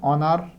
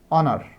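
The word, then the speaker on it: honor: তাহলে এটা synonym অনার। এখানে কিন্তু এইচ এর উচ্চারণটা হয় না, অনার, অনার মানে সম্মান।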